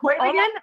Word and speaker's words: Heurigen: Vienna is known for its, Kristin, tell me if I'm going to pronounce this correctly, Heurigens? The Heurigen, yeah. Heurigen?